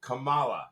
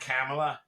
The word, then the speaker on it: Kamala: Kumay Nani Harris for I'll even say it the right way. Camala, right? Not Camela.